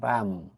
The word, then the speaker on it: palm: PALM, পাম, এখানেও এল লেটারটি silent থাকবে।